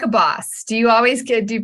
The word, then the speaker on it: Bohs: name being boss oh almost everyone pronounces it wrong people I've known for 20 years have pronounced it wrong and I've stopped correcting them like I get bows a lot you get both a